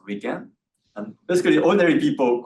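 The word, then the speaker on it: 理研: So this is in Japanese pronounced as RIKEN.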